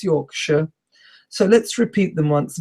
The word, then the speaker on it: Yorkshire: So if you talk about dogs as if you talk about the city, it's Yorkshire.